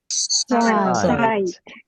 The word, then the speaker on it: Zeit: 그리고 A는 무조건 I 발음이 된댔죠. 읽어볼까요? 사이 Zeit, 시간이란 뜻이 되고요.